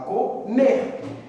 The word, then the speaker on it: comer: Você não fala comer, você fala comer.